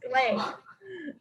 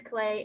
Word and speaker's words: Klee: they say, yeah, I think it's Clay. It's pronounced Clay, but he's pretty famous.